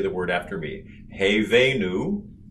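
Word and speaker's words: הבאנו: one more time for good measure slowly together hey venu shalom alaihim now we'll do column response i'll do each word and then you say the word after me hey venu hey venu shalom shalom i laid them all good did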